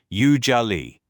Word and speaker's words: usually: The first part sounds like you. The middle has a soft zez sound, like the How about S this? in measure. And it- Usually. Yes, precisely. That's the pronunciation. Usually.